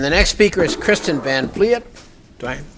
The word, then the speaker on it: van Vliet: And the next speaker is Krystyn van Vliet. Do I pronounce that right? Van Vliet.